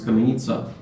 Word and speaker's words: Kamenica: They pronounce him Kamenika. He's Bosnian, so it's like in Russian it's Kamenica. In translation, it means they did somehow in Serbian.